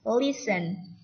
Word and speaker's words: listen: Listen. Perhatikan. Jadi T-nya tidak dibaca.